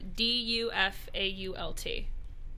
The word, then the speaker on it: Dufault: Dufault. Wait, can we? I can't. I Yeah, need to know how to spell it. All right, Dufault. So it's Okay. pronounced like Willem Dafoe.